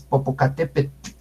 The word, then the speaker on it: Popocatépetl: Entonces, ese TL no se exagera tanto. Es Popocatépetl. Suavecita esa L, Popocatépetl. Entonces pego la lengua al paladar y saco el aire por los lados, Popocatépetl.